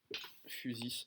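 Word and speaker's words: φύσις: Physis en grec, qui va évidemment vous donner physique. Le Y se prononce, probablement c'était le cas, se prononce U. C'est un U grec.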